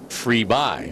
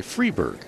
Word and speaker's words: Friberg: with us in hawaii we were pronouncing her name louise free buy which is technically correct in sweden but while she's over here nobody gets it right so she wants to go by freeberg the lazy americanized way